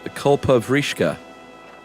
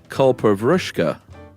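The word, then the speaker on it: कल्पवृक्ष: guys talked about the Kulpavrishka. First of all, it's not pronounced that way. It is pronounced Kulpavrushka. Oh, we were way off.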